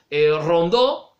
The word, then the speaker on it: Rondeau: Por ese lado estaban los federales, combaten contra las tropas de Buenos Aires, que estaban encabezadas por Rondó, que se escribe Rondeau, ahí lo van a